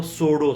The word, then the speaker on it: pseudo: जो एस्ट्रोलॉजी है वो सोडो साइंस है. सोडो का स्पेलिंग क्या है? PSEUDO.